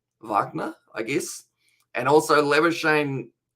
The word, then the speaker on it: Labuschagne: And also Labuschagne, I believe he prefers it pronounced like that. But then if you look at the pronunciation in South African, it's actually Labuschagne, isn't it? Or something similar. I feel like I still don't quite say it completely correct.